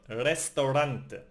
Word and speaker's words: restaurante: And finally the R is rolled. For example in the word restaurante.